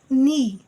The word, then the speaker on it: knee: Knee, K is a silent letter.